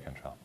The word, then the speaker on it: Cantrell: I like that Jerry Cantrell, am I pronouncing that correctly? Yes, Jerry Cantrell.